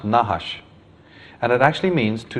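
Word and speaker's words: נחש: is nahash of course they didn't use vowels so it's just nhsh but that is pronounced nahash and it actually means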